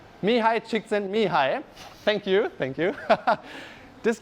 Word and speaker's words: Csikszentmihalyi: have somebody from hungaria here can you please pronounce his name correctly me hi csikszentmihalyi thank you thank you this guy studied flow